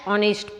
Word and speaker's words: honest: Ramu, our servant, is dash honest person. When it is honest, O, pronunciation is O, H is silent.